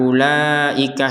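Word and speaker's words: أولئك: Karena kata ula ika ini menjadi satu kesatuan sehingga harokat benderanya juga wajib dibaca 4 sampai 5 harokat.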